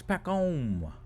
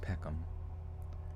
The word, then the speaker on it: Peckham: It's Peckham. It's Peckham. It's pronounced like it's spelled, you freaking tallywhacking yank. Let's see. Peckham. Pronounce Peckham. Peckham.